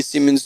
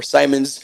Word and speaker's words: Simons: and Andy Simmons together, or Simons, because we had a conversation as well. Since this is SY, it might very well be Andy Simons, and I was been saying it wrong for a long time.